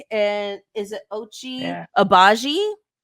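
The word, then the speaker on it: Agbaji: Okay, so we received Kelly Olynyk and is it Ochi Yeah, Abaji? it's Ochai Abaje. The G is silent.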